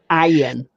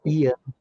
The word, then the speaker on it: Ian: Yeah, I've noticed in America some people don't get how to say my name. They say Ian. Yep, that's exactly, yeah. No, it's Ian.